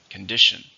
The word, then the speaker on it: condition: How many syllables are in condition? 3. Stress on the second. Condition.